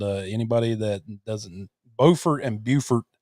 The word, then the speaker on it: Beaufort: I'm from Beaufort, and anybody that doesn't, Beaufort and Beaufort. So you got Beaufort, South Carolina, Beaufort, North Carolina, spelled the same, pronounced differently.